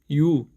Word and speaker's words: ㅠ: 첫 번째 반모음 이, 두 번째 우, 두 개의 발음을 연결해서 이우, 이우, 이우, 이우, 이우, 유, 유, 유.